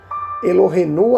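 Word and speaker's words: אלוהינו: mais assim literal né pronunciando seria achei mais rael adonai elohenu adonai errado seria a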